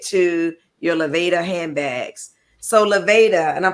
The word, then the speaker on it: Lavāda: want to get to your Leva handbags so Leva and I'm pronouncing it correctly right you are okay Leva